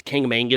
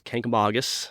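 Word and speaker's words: Kancamagus: How do how do visitors pronounce it? Uh, wrong. Uh, mostly it's Kangamangus. Kamangus is what they say. Kangamangus. Kamangus. Uh but it's Kkamagus.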